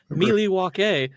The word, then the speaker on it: Milwaukee: In fact, it's actually pronounced Milwaukee, which is Algonquin for the good land.